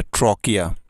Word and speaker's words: trachea: Next ট্রকিয়া, ট্রকিয়া মানে হচ্ছে শ্বাসনালী, TRACHEA, ট্রকিয়া, উচ্চারণটি হবে ট্রকিয়া।